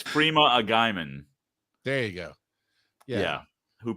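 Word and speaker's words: Freema Agyeman: Charles mispronouncing things is totally on brand. It's okay. Yeah, that's true. 110%. I'm sorry. It's Freema Agaiman.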